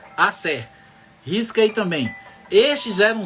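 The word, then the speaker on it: Aser: E no verso 17 teve Asser, ou Azé, deve ser Asser que pronuncia, Asser.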